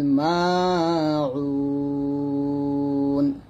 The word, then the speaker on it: الماعون: ইয়ামনাউনাল মাউন ওয়া ইয়ামনাউনাল মাউন এখানে মা এক টান দিবেন উটা আইনটাকে চাপ দিয়ে দুইটা আইন উচ্চারণ সুন্দর করবেন ওয়া ইয়ামনাউনাল মাউন এরকম